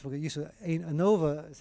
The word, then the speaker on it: ANOVA: ANOVA is how it's pronounced, but analysis of variance.